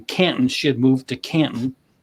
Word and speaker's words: Canton: she had moved to Canton that's how they say it there Canton it's like it doesn't have a tea in it following a request from